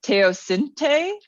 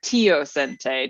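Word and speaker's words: teosinte: corn or maze is teos Cente or tiente depending on how you pronounce it okay but cor so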